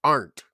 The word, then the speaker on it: Arndt: name and it's pronounced art AR all right there we go is silent D is silent um so many